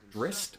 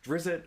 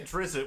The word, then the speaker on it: Drizzt: books for this character called drist or Drizzt or however you want to say his name exactly I say a drizzle which is the incorrect way of saying yes but